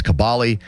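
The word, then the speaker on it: Kaboly: Mark has told people repeatedly that the correct pronunciation of his name is Kabali but even the people that pay him on the show say his name incorrectly.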